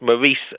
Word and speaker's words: Maurice: His name is Maurice Baring, and between the two world wars, Maurice Baring, it's Maurice, the way it's pronounced over here, but Maurice Baring wrote several best-selling novels that were hugely successful, even in the secular world.